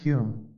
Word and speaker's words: Home: in the case of Daniel dunglas home pronounced Hume perhaps the most remarkable